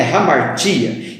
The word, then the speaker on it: hamartia: Eu escrevo hamartia com H, como você pode ver no vídeo, mas a pronúncia também é hamartia, que é sair da rota.